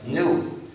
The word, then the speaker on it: gnu: Se usa en muchos juegos de palabras porque según el diccionario se pronuncia NU como nuevo.